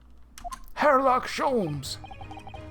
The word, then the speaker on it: Herlock Sholmes: Herlock Sholmes! Oh, have we met, sir? This is Mr. Natsume, the man you had arrested, Mr. Sholmes. The H is not silent.